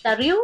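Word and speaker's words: Tarrou: O la muerte que acaba de decir de Tarriu, ¿cómo se llama? ¿Cuál? El que murió último, el amigo del doctor Ryu. Tahu, se pronuncia Tahu, ¿no? Ajá, Tahu.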